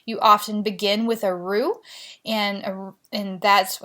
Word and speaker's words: roux: making a dish you often begin with a roux and and that's how you pronounce that word our Oh X's ruit's a